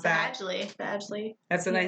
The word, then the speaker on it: Badgley: Tell me how to pronounce that. Badgley.